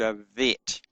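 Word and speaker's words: ב: But when it does not have a dot in it, it is uh pronounced with a soft sound v as in vine. And so the bet is called a vet.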